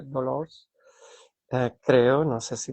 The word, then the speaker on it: Dolors: Porque si trabajas en una farmacia y te llamas María Dolores, en catalán, ¿no? Se llama María Dolors.